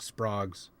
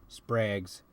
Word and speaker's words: Sprague: these junk sprogs sprags if you ever want to remember exactly how you pronounce um s-p-r-a-g-u-e um think of the radio like uh think of Radio Electronics they had an ad back in the 50s um where the slogan was don't be vague use Sprague foreign foreign